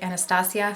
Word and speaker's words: Anastasia: I want to say Anastasia, but I know that Norvina pronounces it Anastasia, so I'm going to try to pronounce it properly.